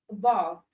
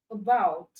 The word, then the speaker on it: about: And when you pronounce this word, it sounds like you are saying bout, because the sound that started is a very weak sound. It's not silent, but it's weak. So about, about.